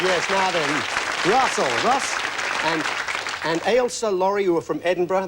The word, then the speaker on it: Ailsa: Ailsa is how you pronounce it, though, isn't That's it? correct. Ailsa.